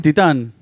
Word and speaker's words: Titane: Is that the correct pronunciation? Titane.